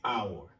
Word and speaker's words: hour: Alors, ici, le H est déjà muet. Ça va donner hour.